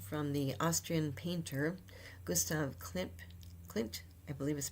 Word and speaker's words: Klimt: Their vessel is really an inspiration from the Austrian painter Gustav Klimt, I believe is pronounced his name, and also be named after